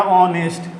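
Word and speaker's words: honest: तो ये देखिएगा, इसको जब पढ़े ना तो ये पढ़ा गया ऑनेस्ट, तो हिंदिया में ना आ गया जी।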